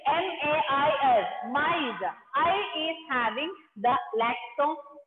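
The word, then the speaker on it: maïs: Example, first one is maize. Maize. See the spelling? M-A-I-S. Maize.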